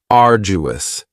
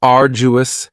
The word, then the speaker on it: arduous: And arduous has three syllables. And the stress is on the first syllable. Ardu. Now you don't hear that d sound that much. It's not very strong. It almost sounds a little like a J.